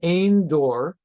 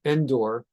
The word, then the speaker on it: Ein Dor: There is such a woman in Ein Dor, some pronounce it in English Endor, the witch of Endor, who consulted ghosts with Endor.